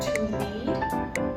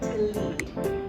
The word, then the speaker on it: lead: i just said lead to lead is more of a longer sound right to lead and this is used